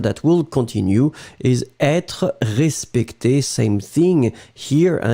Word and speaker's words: respecté: Je veux être respecté, which is in fact the masculine form, accent aigu, je veux être respecté, accent aigu, for the feminine form, you will pronounce them exactly the same way.